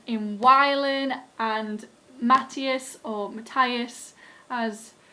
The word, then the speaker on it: Matthias: We see a lot of development in Wylan and Matthias, or Matthias as it's supposed to be pronounced, but I've been calling him Matthias for 2 books now, so Matthias it will remain.